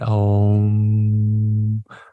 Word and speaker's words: om: is om right om I encourage you to practice it as three or four syllables rather than just one syllable but when we when